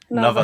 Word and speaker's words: Naval: Is that how you pronounce it? Naval.